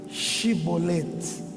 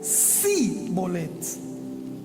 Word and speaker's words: chibolete: Porque não conseguiam dizer chibolete. Eles diziam si bolete.